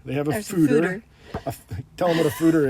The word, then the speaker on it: foeder: Apparently it's pronounced Anywhere fooder.